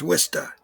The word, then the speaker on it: Worcester: my baseball career and worcester so if you uh from outside of new england and you don't know this worcester is spelled like war chester but it's pronounced worcester it's about 50 miles